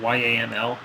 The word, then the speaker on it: YAML: Basically, the app.yaml, Y-A-M-L, we usually pronounce that YAML, app.yaml and index.yaml.